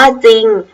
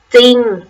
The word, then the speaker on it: จริง: พยัญชนะ ตัว หน้า ง และ ไม่ ออก เสียง ตัว พยัญชนะ รอ เรือ แต่ ตอน ตาล ควบ รอ เรือ มี เพียง คำ เดียว คือ คือ คำ ว่า จริง นะ เงิน ออก เสียง